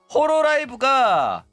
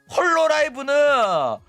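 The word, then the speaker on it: Hololive: 일단 자주 하는 소린데 조우가 홀로라이브를 자꾸 호로라이브라고 발음한다고 해가지고 자꾸 뭐라고 하는데 호로라이브가 정식 발음입니다. 어 본토 발음이야. 어 자꾸 헛소리 하지 마시기 바랍니다. 앞으로 홀로라이브라고 해. 홀로라이브는 어 발음도 못하는 조선직들이나 홀로라이브라고 하는 거지.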